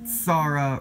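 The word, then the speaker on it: Xsara: trip up the Citroen saara rally car or the Sarah lisara the X is silent I know that for a fact but how's it Sarah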